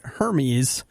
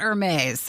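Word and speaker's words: Hermès: But Nikki and I are looking this morning at Hermes. I always call it Hermes. Hermes?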